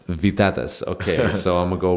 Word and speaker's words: Vytautas: Yeah, it's Priene Vytautas. Vytautas.